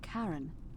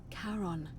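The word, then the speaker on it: Charon: it's just as you described it only your pronunciation is a little off the name you heard wasn't karen it was c-h-a-r-o-n oh caron defense heron caron who in exchange for the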